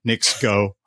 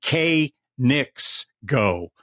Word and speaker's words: Knicks Go: It was supposed to be K Knicks Go and not Knicks Go.